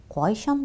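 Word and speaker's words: кайчан: В вопросительных единицах и вопросительных местоимениях ударение должно падать на первый слог. При элизии (отпадение звука) между двумя словами ударение может меняться, приспособляться к речи. Но для того, чтобы речь была ясна, нужно стремиться ставить ударение к каждой речевой единице. Например, Ни'нди кешеләр белән очрашу? Ка'йчан барырга кирәк? Таким образом, в указательных, неопределенных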